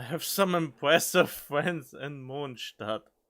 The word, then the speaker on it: Mondstadt: I have some impressive friends in Mondstadt. And yes, that is the correct pronunciation, if you have to ask. Mondstadt.